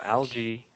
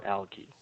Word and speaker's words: algae: lj actually you could you could pronounce it two ways so you could say lg or al ghee okay so algae or alky okay all right are